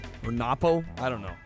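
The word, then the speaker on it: のっぽ: All right, Nopo or Napo. I don't know how you say it. Oh shit! This is the Japanese version. It's the long O, it's the Nopo. Nopo.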